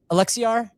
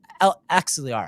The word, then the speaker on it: Axelar: How does Alexiar and MX Bridge, I totally butchered that, differ in roll and rollout? Axelar.